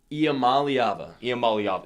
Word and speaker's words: Iamaleava: You can pronounce the last name. Nico Iamaleava.